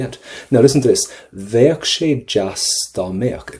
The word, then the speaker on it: bheadh: Pop the letter V at the start. Bheadh. And kind of a CK at the end.